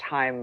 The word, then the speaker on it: Chaim: And Haim, but it's pronounced Haim, but it's spelled Chaim, like Chaim.